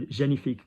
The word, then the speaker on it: génifique: So G, ni, where does the I vibration go? Between the eyebrows. I between the eyes. Génifique, génifique. Now, if you read that in English there, you know, génifique cream, you're not going to get that one wrong.